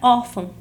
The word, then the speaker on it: órfão: Por exemplo, eu sei que a palavra órfão, a sílaba tônica é a penúltima, por isso ela é uma paroxítona.